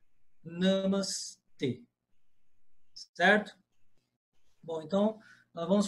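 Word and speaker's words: नमस्ते: E a pronúncia é essa: namas t. O e em sânscrito é sempre fechado. Isso é uma regra absoluta do sânscrito. E é sempre fechado. Nunca existe é em sânscrito. No nas línguas neossânscritas da Índia hoje, sim existe o e, mas no sânscrito antigo não existia e, só existia e. Então a pronúncia correta namas t, certo?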